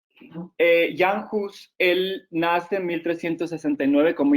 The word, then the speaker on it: Jan Hus: de hechos y anjos o jan hus más bien porque en chaco si se pronuncia la u jan hus él nace en 1369